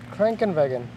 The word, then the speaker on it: Krankenwagen: Krankenwagen.